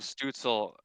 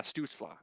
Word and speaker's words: Stützle: I would You rather have can Stutzel. I think that's how you pronounce his name. Tim I would like to Stützle. see him. Yeah, Stutzla.